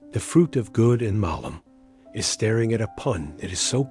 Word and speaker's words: malum: In Latin, the noun for evil, as in good and evil, is malum, pronounced with a short a.